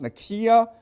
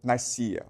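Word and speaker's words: Nicaea: Okay, it's properly pronounced Nikia, but most people pronounce it Nika.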